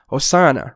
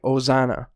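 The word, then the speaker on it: ὡσαννά: that passage it it in erasmian pronunciation so if I were to remove the rough breathing from that it would just sound like oana oana right but there's definitely an H there's definitely like a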